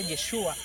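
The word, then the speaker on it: ישוע: Se pronuncia Yeshua en el griego.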